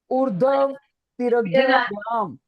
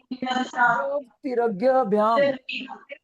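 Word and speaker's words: ऊर्ध्वतिर्यग्भ्याम्: लेट me tell it's proper pronunciation. ऊर्ध्व तिरग्यभ्याम, ऊर्ध्व ये ये ऊ के बाद बोला जाएगा। ऊर्ध्व तिरग्यभ्याम, ऊर्ध्व तिरग्यभ्याम, स्पीक आउट।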